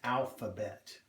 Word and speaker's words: alphabet: This word is alphabet.